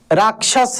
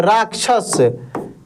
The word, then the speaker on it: राक्षस: तो देखिए यहां पे छ में क्या? पहले क उच्चारण हो रहा है। राक देखिए राक। राक्षस समझ रहे हैं ना? तो ये आधा क और मूर्धन्य श के मिलने से बना है।